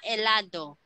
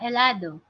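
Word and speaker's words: helado: is all started with Edge so we don't pronounce the edge I'll start with merely say hola elado gracias Karen hola elado gracias and muy bien Patrick okay perfect so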